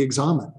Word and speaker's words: examen: Although he said in there it rhymes with examine, I've always heard everybody pronounce it as the examen.